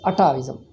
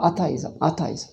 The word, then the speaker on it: atheism: For atheism, he calls it atavism. Ataism. Ataism, what is that? When he used it in the sentence, then it is an atheism. No, atheism.